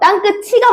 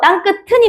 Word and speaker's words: 땅끝: 자, 정확 말하면요. 땅끝 치가 맞고요. 땅끝 튼이 맞아요. 뒤에이가 나올 때만 치로 발음하고 나머지는 전부 다 연음에서 튼으로 발음하면 돼.